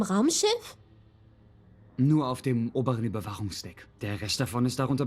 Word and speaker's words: Überwachungsdeck: Überwachungsdeck, you pronounce the CH with a ch sound and a vibration in the back of your throat because the CH ends after an A. Wach, ja. Only on the upper surveillance deck.